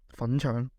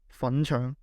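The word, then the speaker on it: 粉腸: 粉腸, 粉腸, 粉腸 is a dish made from pig intestines, which is commonly used as a playful insult in Cantonese. It rhymes with 撚樣, which translates to fuckface.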